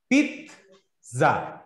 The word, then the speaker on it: pizza: আপনি পিজা বলেন, পিজা বলেন, আমার কাছ থেকে শুনেন এটার কারেক্ট প্রোনাউন্সিয়েশনটা কি।